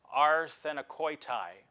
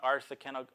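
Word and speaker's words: ἀρσενοκοῖται: of it and everything, is this word arsenikoitai. That's the Greek pronunciation, arsenikoitai.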